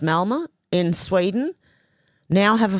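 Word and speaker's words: Malmö: Peter Sweden said 54% of the population in I think it's pronounced Malma in Sweden now have a foreign background.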